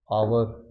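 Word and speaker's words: hour: के बाद जो साउंड, जो एच का साउंड वो आता ही नहीं है। जैसे ऑनर, रिस्पेक्ट देना, ऑनेस्टी या ऑनेस्ट, ईमानदारी, ईमानदार, आवर, घंटे की बात करते हैं हम, तो यहाँ पे एच साइलेंट हो जाता है।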